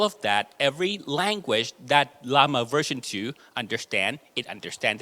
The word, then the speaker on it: LLaMA: I pronounce that name is it llama Or Yama as in Spanish he said Lama Okay so llama as the inventor says okay and um we